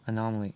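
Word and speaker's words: An0maly: Zer m l y anomaly anyway it's spelled with a zero there's no o in there it's anomaly with the zero um he's great he's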